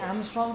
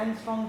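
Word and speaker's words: angstrom: power -15 ठीक है ये एमस्ट्रंग था या एंगस्ट्रांग था ये एंगस्ट ठीक है एंगस्ट याद रखना एक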